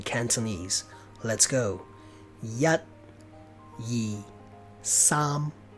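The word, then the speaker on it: 三: the word 3 it's some spelled s a am a a means you pronounce it longer and with a bigger mouth so some instead of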